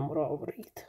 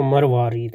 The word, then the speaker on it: مروارید: اب یہ اس کا پروننسیشن کیا ہے مراورید. اس کا فارسی میں بھی اور اردو میں جو تلفظ صحیح ہے وہ مروارید ہے میرا خیال.